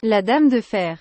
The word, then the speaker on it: La Dame de Fer: I don't know exactly how to pronounce this. It's La Dame de Fer? La Dame de Fer.